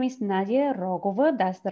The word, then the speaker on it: Nadia Rogova: but all right well yes my name is nadia rogova that's the right spelling of my name no right pronunciation of my name i come from bulgaria